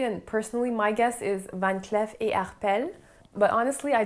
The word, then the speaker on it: Van Cleef: in french van cleef most of the employees speaking about the brand were pronounced in van clef so i guess it's safe to say it's a van clef and not van cleef but the arpels we